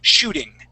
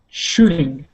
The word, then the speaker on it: shooting: word is shooting okay this is another word where that t is going to uh not sound like a t it's going to sound like a d so let's try that